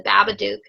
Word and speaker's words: Babadook: And this kind of brings to the forefront, and again, for those who have seen the Babadook, yeah, that's how you pronounce it, who have seen